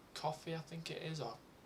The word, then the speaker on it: Ko-fi: There's another place called Ko-fi, I think it is, or Ko-fi. It's spelled K-O-F-I.